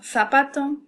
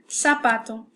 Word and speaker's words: zapato: In Spain, it will be pronounced theta. In Latin America and Mexico, it will be zeta. So, zapato, meaning shoe, or zapato.